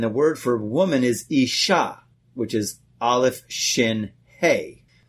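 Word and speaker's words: אשה: Aleph, Yud, and Shin, and the word for woman is Ishah, which is Aleph-Shin-Hey.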